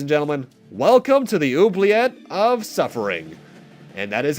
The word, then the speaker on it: oubliette: to look it up i think it's like French or something it's in origin at